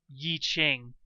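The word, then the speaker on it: I Ching: part is perhaps more like ye so it's yi-ching or at least that's what the IPA for opinion Mandarin says on Wikipedia I don't know it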